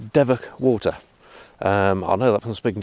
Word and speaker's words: Devoke Water: It is pronounced Devoke Water.